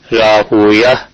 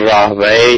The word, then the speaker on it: راہویہ: سیبوئے راہوے کے وزن پہ، راہوے بہت بڑے محدث تھے اور اس لفظ کو دونوں طرح پڑھا گیا ہے، راہویہ یوں بھی اور راہوے بھی، اور راہوے سیبوئے یہ زیادہ بہتر طریقہ ہے تلفظ کا.